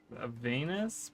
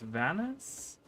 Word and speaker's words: Vanus: She says Venus, but it's Vanus.